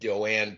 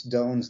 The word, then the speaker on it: Doane: came to be uh first of all you pronounce doane's name as doan perry it's everybody gets it wrong so it's it's no